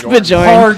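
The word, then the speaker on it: Björn: How do you pronounce his name? From Soilwork. Bjorn? Bjorn. Bjorn. It's Bjorn.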